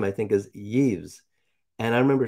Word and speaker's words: Yves: Yves. You know how I know it's pronounced Yves?